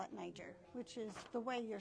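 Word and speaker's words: Nyjer: So, but um in 1998, the Wild Bird Feeding Institute changed the name to NY Jer and we that's why we call it Niger, which is the way you're supposed to pronounce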